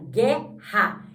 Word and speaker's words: guerra: Não, a gente não pronuncia o U. Então, na verdade, o GU vai ter som de G, que é só um G. Então, vai ficar guerra.